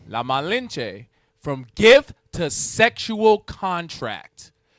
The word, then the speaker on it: La Malinche: La Malinche. La Malinche.